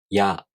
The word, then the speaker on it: や: For example, when you pronounce や, you first make the [i] tongue position but not fully pronouncing it. Then, the tongue quickly moves on to the next vowel sound. In this case, the [a] vowel sound.